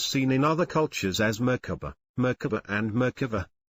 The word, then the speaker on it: Merkabah: It is seen in other cultures as Merkabah, Merkabah and Merkabah. There are several pronunciations, but generally you pronounce it as if the three syllables are separate, with equal accents on each.